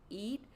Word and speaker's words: Eid: It's so ironic that a bodega that is operated by Muslims, I know that because it's closed on their holiday Eid, I believe is pronounced.